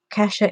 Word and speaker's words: Kasia: Kasha is spelled Kasia, and it's Kasha, whatever, Advent Calendar.